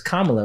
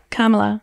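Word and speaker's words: Kamala: mean so your yours Camila hers is is kamla right is yeah see you say tomato she say tomato yeah so it's supposed to been Pamela Pamela kamla I think that was in mom yeah she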